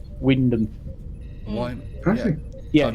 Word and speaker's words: Wymondham: There's a place that's spelt Wymundham, but it's pronounced Wyndham. Why? Actually, Yeah, I've not it's seen that spelled place. Wymondham, Wymundham, but it's pronounced Wyndham. Wyndham. You chop out half the letters.